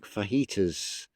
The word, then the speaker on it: fajitas: José, consider foods like fajitas and jalapeños. Look how they're spelt. All four of those words are spelt with a J, but are pronounced with an with a H.